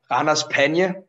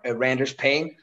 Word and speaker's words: Ranas Pena: The tag team I wrestle in without a mask is called Ranas Pena. On English, when the commentators pronounce it, it's called Randers Pain.